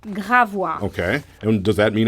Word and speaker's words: Gravois: Gravois. Gravois. Gravois.